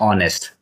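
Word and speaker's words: honest: Question number 14 इज the silent letter is ऑनेस्ट। इसको पढ़ते हैं ऑनेस्ट। कुछ बच्चे इसको पढ़ते हैं ऑनेस्ट। ठीक है ना? ऑनेस्ट होने के कारण यहां जो प्रोनंसिएशन शुरू हुआ यहां से शुरू हुआ ओ से। तो एच हो गया बाहर।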